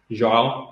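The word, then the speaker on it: João: You have a pronunciation, so I'll let you say it. Joao Hamilton.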